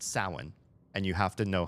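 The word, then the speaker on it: Samhain: pronounce the the Gaelic word for Halloween is Sam Hayne it's spelled s a m h a i n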